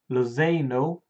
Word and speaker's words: Lozano: And recent rumours, PSV Lozano, that's how you pronounce his name, he's actually 4 days younger than me.